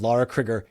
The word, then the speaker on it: Lara Crigger: Lara Crigger, yes, that's how you say her name.